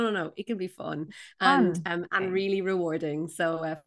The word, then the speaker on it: Feng Shui: fun and first off did I pronounce it correctly so many people say F or different versions of then how would you say so how I say it is fun so I think you